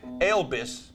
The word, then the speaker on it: Elvis: But, you know, Elvis, we pronounce that E-L-B-I-S where I'm from.